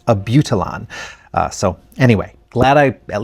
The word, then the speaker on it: Abutilon: She says it's Abutilon. So anyway, glad I at least got one of my pronunciations.